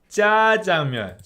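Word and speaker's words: 짜장면: But it's spelt as jjajangmyeon. But then when people say it, they say jjajangmyeon.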